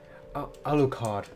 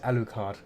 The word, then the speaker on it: Alucard: How do you pronounce it? A la carte. A la carte. Castle. Alucard. That's it. Alucard.